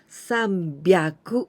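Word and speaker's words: さんびゃく: and also 300 it was the irregular sound sambiaku instead of okay so 3 33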